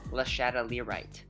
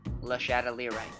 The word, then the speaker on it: Lashadalirite: This is for everybody who is reading Shadows of Reach and doesn't know how to pronounce it. That word, that keeps coming up over and over again. It is Lashadalirite.